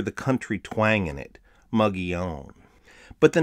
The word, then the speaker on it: Mogollon: it a debate but it's really not everybody pronounces it muggy own you can hear the country twang in it muggy own but the name of the culture was coined